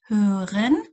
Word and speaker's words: hören: Hören گوش دادن. Hören گوش دادن. توجه کنید اینجا به تلفظ اویی که دوتا نقطه بالاشه میگیم hören hören hören. لبها جمع میشه گوش دادن.